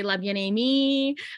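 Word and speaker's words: Bien Aimée: everyone pronounces my brand i have a lot of americans who say love you me which i think is adorable because it's like a mix of french and american english you know one thing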